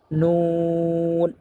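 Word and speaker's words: نون: নুন নুন পড়ার সময় দুই ঠুট গুল হয়ে যাবে। গুল করে তারপর নুন উচ্চারণ করতে হবে।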